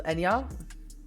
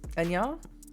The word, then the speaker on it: Enya: Enya. Pronounced like ya. So Enya. Enya.